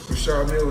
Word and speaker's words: Richard Mille: How's the Richard Mille? It's very humble. You know, I like to call this Well, they people pronounce it different ways. Richard Mille is what my jeweler told me.